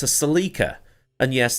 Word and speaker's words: Celica: but outwardly it's a Celica and yes that's how it's pronounced in Britain I remember the ad